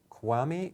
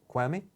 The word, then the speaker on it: Kwame: Kwame from California and I know I didn't pronounce your name that well but is it Kwame are you there yes yes dr. Burke it is Kwame you pronounce it got one right yeah thank you so